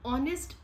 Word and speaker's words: honest: Suppose ऑनेस्ट word है, ऑनेस्ट की अगर हम इंग्लिश में स्पेलिंग लिखें तो उसकी स्पेलिंग है HONEST, बट अगर हम इसको शॉर्ट हैंड में लिखते हैं तो ऑनेस्ट ही लिखते हैं। एच को हम कहीं भी डिपिक्ट नहीं करते किसी भी कर्व से।